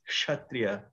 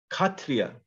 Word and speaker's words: Kshatriya: And one important note is in Bengali, this letter is pronounced differently.